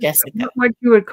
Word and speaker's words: Jessica: Okay, yeah, it is pronounced Jessica.